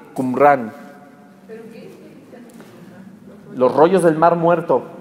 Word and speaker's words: Qumran: Qumran se escribe Q-U-M, una sola R-A-N, Qumran.